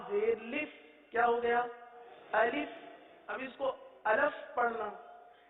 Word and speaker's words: الف: بعض اس طرح بھی پڑھ دیتے ہیں: الف، الف، الیف.